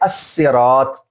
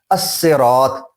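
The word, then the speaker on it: الصراط: जो लाम तारीफ है, अब ये लाम तारीफ पढ़ा भी नहीं जा रहा, अब ये कंप्लीटली साइलेंट हो चुका है. अब हम पढ़ रहे हैं अस्सिरात. अस्सिरात लाम इसमें आपको जो है साउंड नहीं देगा.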